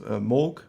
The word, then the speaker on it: Moog: mooc is pronounced and we know it's originally moh but the son of moch is yeah could be a klingon but this time uh most of us use moog we all know that